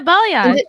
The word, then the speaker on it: balayage: I am, but I wanted that kind of like the balayage. Is that how you say it? Oh yeah, balayage.